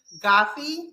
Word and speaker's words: Guffey: going to be interviewing today um Mr goofy did I say it right yeah yeah yeah